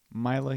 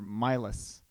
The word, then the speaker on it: Mila: Mila Heward? Mila. Why don't you call her Milas? So it rhymes with Silas.